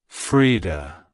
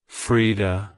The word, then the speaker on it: Frida: peace it's pronounced as Freda Freda Freda to pronounce it correctly emphasize the e e sound in the first syllable and the aound sound